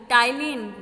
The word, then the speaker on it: ptyalin: Saliva contains the enzyme टाइलिन which converts starch into sugar. इसमें जो ये लिखा है PTYALIN है, वो उसमें P साइलेंट होता है, उसको हम टाइलिन बोलते हैं।